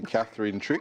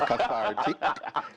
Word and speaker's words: cathartic: Like I want to say Catherine Trick, but it's cathartic.